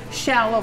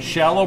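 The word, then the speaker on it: Scialo: Shallow, like shallow water.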